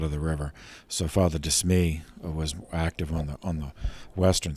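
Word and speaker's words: De Smet: priest, named Pierre Jean de Smee. That's Pierre as in Peter, John obviously, but it's spelled G-E-A-N, and then D-E-S-M-E-T, Pierre Jean de Smee.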